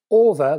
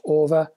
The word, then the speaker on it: AVA: producing what they called over that's a u v a I think it's pronounced over isolators for your speakers foreign